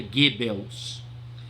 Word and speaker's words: Goebbels: Se escreve Goebbels, você vai ver aí no livro Goebbels, mas se pronuncia Goebbels.